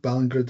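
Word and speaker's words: Ballingrud: So it's Nathan Ballingrad, I think. Ballingrad, it's pronounced.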